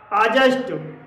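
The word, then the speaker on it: adjust: जी हाँ दोस्तों, यदि किसी शब्द में डी के बाद जब जे आता है तो डी साइलेंट रहता है। जैसे कि एडजेक्टिव, अजज, अजासेंट, अजवाइन, आजस्ट, आजवर, इन सभी शब्दों में डी के बाद जे है और डी यहाँ पर इन शब्दों में साइलेंट है।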